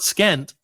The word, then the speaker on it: scent: don't do that see is it the s in Scent or the C in Scent that is silent it's the C it's not scent SC you know is it scent like NT or is it scent like this smells I love the scent of